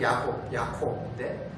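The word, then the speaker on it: יעקב: 어떤 신학자는 이것을 두고 야곱이라는 이름의 발음, 그러니까 히브리어의 발음이 야곱, 야콥인데 그것과 이 야곱이 씨름한 장소, 약복이라는 것, 약복강이라고 하는, 여기도 야보크라고 부릅니다.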